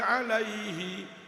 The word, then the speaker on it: alaihi: Ya Rabbi sholli alaihi wasallim. Kemudian "alaihi," ucapkan "ha" dengan jelas.